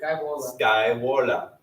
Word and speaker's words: Scaevola: I can say Scaevola. I don't really care. But if you were going to use your Roman pronunciation from Latin, it'd be Scaevola.